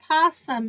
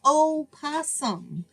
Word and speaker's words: possum: the posum and y'all it's posum it's not o posum the O is silent it's pum so that's